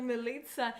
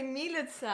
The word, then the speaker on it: Милица: Милица говорит, что ударение на первом «и». Да ладно, милица? А я точно... я слышала, как кто-то говорил «милица». Да, я тоже слышал. Мы тоже думали «милица», а потом нам Да.